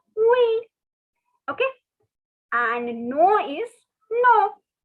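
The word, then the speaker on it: oui: after me all right the spelling is o-u-i pronunciation is we okay and no is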